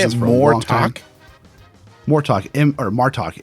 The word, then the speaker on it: Martok: Martok. Martok. M-A-R-T-O-K. Oh, okay, Martok. I was like, Martok. It's more talking. Yeah. Like what we're doing right now.